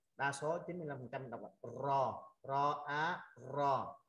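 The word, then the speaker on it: ر: Rồi chữ cuối cùng của hạng đầu tiên của dòng đầu tiên là chữ ro à, ro anh chị phải rung lưỡi lên,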